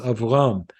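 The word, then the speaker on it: אַבְרָם: It is avram, 2 syllables.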